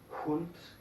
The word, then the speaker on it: Hund: En estos casos no se escucha, pero en la mayoría de los casos, cuando una sílaba empieza con la H, entonces se escucha, como Hose, Hund, Haus.